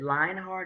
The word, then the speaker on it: Lionheart: do a terrible job is it Lionheart or line it is Lionheart it is not pronounced the way it's spelled so I just want